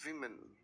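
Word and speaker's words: women: अगर आप इसी को प्लूरल बनाने की कोशिश करते हैं, द साउंड इज विमेन।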